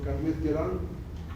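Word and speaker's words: Calmette-Guérin: Es un liofilizado de este bacilo, ahí se puede leer cómo se escribe el bacilo Carmet-Guerin, así se pronuncia, es francés, ¿no?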